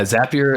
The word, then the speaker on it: Zapier: Yeah, Zapier is the correct way to pronounce it. We always say Zapier makes you happier.